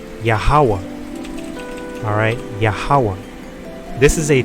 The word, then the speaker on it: YAHAWAH: This is YAHAWAH. That's how you would pronounce it.